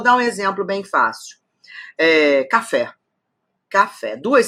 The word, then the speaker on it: café: um exemplo bem fácil café café duas sílabas café café Qual é a forte claro que é o fé então é uma oxítona última sílaba tônica então